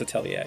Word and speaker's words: Atelier: It is Atelier, right? It is, in French it's Atelier.